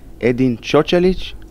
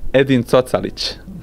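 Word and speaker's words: Edin Cocalić: course try to win now for the fans edin chalich how do you say it edin talich now we know edin talich thank you very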